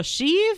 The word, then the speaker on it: Sheev: And that stands for Sheev, and that rhymes with peeve, and that stands for Cleve?